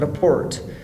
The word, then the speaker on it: report: A report is a verb form when the stress goes to the second syllable.